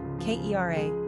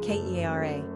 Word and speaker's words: Kiera: Pronunciation, Kiera, Kiera.